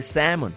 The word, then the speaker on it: salmon: Cuando decimos salmón, se escribe salmón, pero se dice salmon.